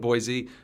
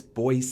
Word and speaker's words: Boise: than the first letter so noise and boys are we supposed to you know but boise but no it's boyce c boyce okay fine i will acquiesce